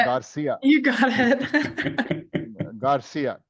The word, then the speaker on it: Garcia: pronouncing it correctly. Garcia. Garcia. Yeah. You got Danielia it. Garcia. You got it. Garcia.